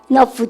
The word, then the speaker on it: enough: 금방 enough, GH 발음, F 발음 하시고 발음 끝 합시다.